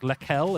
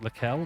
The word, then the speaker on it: Leckel: Looking further down, we've got Craig Spiteri and then Daniel Leckel. We've been told, Isaac, Leckel is how you pronounce it. So we have to keep that in mind. Leckel, yeah.